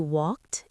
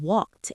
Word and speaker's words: walked: James did not say walk or play. He said walked and played. Yes, that D or T sound is right at the end of the word.